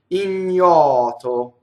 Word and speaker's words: ignoto: Next word, ignoto. So ignoto. So it's an N. Right, I made a funny face, but right, it's an N and then a Y.